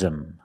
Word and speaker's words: him: He loves him. Loves him. The H in him is silent, so you link the words.